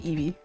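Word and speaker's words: Evey: So, so you can just call me Eevee, by the way. Yes. Like the Pokémon though. Uh, it is spelled uh, E V E Y. So, spelled differently but pronounced the same way.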